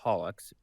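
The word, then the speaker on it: holoX: three days after our last broadcast or hallux Holo X but it's pronounced holux as I've said oh is that house follow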